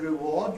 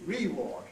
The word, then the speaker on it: reward: If you do it, for instance, with the word reward, you will sound very funny indeed, because I have heard the pronunciation reward, right? But I've heard it from cowboys only, right?